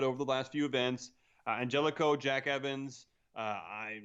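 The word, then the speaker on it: Angélico: Justin's corrected me. It's pronounced Angelico.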